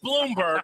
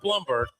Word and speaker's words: Bloomberg: It is Bloomberg, not Blumberg.